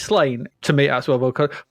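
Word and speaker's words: Sláine: so or slain it's slain to me as well but according to Wikipedia it's pronounced s-l-a-w-n-y-u-h I think it must be the Celtic pronunciation okay maybe so slain's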